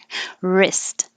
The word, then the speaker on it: wrist: so fastened fastened wrist the w doesn't do anything wrist um and i put